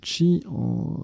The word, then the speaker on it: qi: Le qi, on prononce également chi, l'énergie vitale dans les pensées chinoises et japonaises.